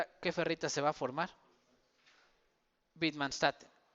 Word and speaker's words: Widmanstätten: Una que se llama alitromorfa y Widmanstätten, que creo que en alemán se llama Widmanstätten o algo así. Se pronunciaría, sí, creo que mi alemán todavía funciona. Widmanstätten.